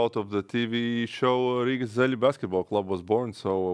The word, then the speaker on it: Rīgas Zeļļi: Rīgas Zeļļi.